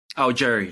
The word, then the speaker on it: Augeri: How do you pronounce the last name? Augeri? Augeri, yeah.